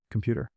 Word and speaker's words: computer: How about computer? Put stress on the second.